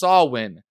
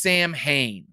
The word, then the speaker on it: Samhain: the horns of samhain some people say it's pronounced sawwin no it's samhain uh please uh check out uh that episode